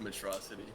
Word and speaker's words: Metrocity: is I think just metrocity yeah metrocity it it sounds like he's saying atrocity it's like oh [